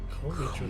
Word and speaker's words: Geomijul: Geomijul. Geomijul, that's how it's said.